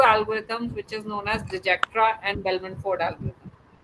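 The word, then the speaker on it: Dijkstra: डिजेक्ट्रा एंड बेलनफोर्ड algorithm डिचकेस्ट्रा भी बोलते हैं राइट तो समटाइ्स वो जे को साइलेंट या के को साइलेंट किस तरह से वो करते हैं तो दैट इज द प्रोनाउंसिएशन इसका तो डिस्कस्ट्रा बोल रहे हो या जैसे आप उसको प्रोनाउंस करना चाहते सो इट सॉल्व जो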